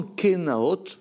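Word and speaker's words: קנאות: sacrifice des jalousies simplement kenaot ça se prononce avec un o or si vous remarquez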